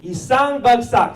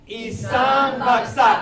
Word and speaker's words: Isang bagsak: Isang bagsak, say it with me. Isang bagsak. Those 4 syllables have this movement.